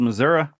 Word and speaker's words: Missouri: like Springfield uh Springfield Missoura well there's there's there's that good news that's how it's pronounced by the way Missour Missour yeah well I wouldn't